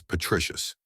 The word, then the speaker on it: patricius: patter which means father the original pronunciation was patricius from this route came the